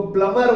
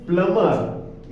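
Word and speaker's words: plumber: है silent प्लंबर लेकिन बी जो है यह साइलेंट है तो उसको प्लंबर बोलते हैं वो साइलेंट है उसका प्रनंसीएशन क्या है प्लंबर इसका क्या है करना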